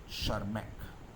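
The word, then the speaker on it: Tschermak: টিটা উচ্চারণ করার দরকার হয় না, শারম্যাক।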